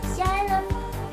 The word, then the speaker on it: xylem: I mean, it's spelled Xylem. What the hell is that like? I know, it's like a xylophone.